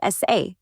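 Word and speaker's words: 사: In Korean, the number four is pronounced sa, which sounds very similar to the word for death or say, leading many people to associate it with bad luck.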